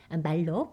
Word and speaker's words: malloc: Next time, we'll explore dynamic allocation with `malloc`— commonly pronounced "malloc," which stands for Memory Allocation.